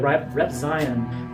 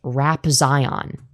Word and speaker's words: Repzion: the same day that Repzion is. So, the YouTuber being talked about is Repzion, but because again, Firebat is literate as They think that it's pronounced Rap Zion.